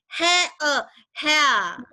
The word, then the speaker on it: hair: Kita kan di kepala kita kan hair diftong AI, jadi bacanya hair harusnya. Tapi ternyata pas baca itu ternyata diftong EA.